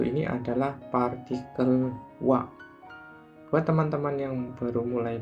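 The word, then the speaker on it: は: bunpo atau tata bahasa dia tidak lagi dibaca ha namun dibaca WA gitu ya teman-teman partikel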